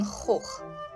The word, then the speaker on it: Gogh: is not Vincent van Gogh it is not where are you van going no no no it's Vincent Van hoek that is dizzy guy